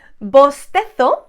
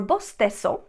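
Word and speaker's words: bostezo: i make you yon bosteto or bosteso bosteto i am going to pronounce that like i normally pronounce that in spain pizarra the white board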